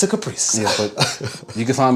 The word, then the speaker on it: Kaprice: And it's pronounced, and I say this all the time, it's pronounced Caprice, not Caprice or whatever.